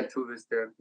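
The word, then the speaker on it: Tove Styrke: There's like we always say her name wrong. Is it Tuve Stirke? Yeah, Tuve Stirke.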